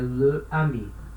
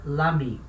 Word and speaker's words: l'ami: Le ami. Não pode. O e cai, vira l'ami, certo?